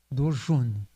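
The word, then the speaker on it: দর্শন: Dorshan? Dorshun. So the A becomes U. Dorshun.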